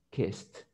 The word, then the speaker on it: kissed: Entonces, si no tienen vibración, ustedes lo pronuncian con una T. Entonces ustedes van a decir kissed.